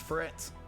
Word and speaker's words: threat: Use them on clones, everyone's saying they're your biggest threat. Threat, should I say, actually pronounce the TH.